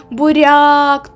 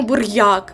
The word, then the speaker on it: буряк: До прикладу, буряк. Ми не кажемо бур'як, ми кажемо буряк. Тобто йод не чуємо.